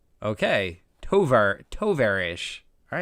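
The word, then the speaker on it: товарищ: on this um oh tyrone says it's pronounced tovarish okay tovar toverish all right thank you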